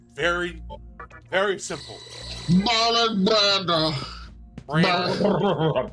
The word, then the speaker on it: Brando: Brandlow, however the fuck you say his name.